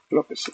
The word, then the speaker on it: López: Perdón, me equivoqué, ese es el sobrenombre, es que es Antonio López, López con acento en la O, Contreras.